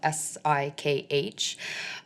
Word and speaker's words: Sikh: It's spelled S-I-K-H, pronounced Sikh, not Sikh.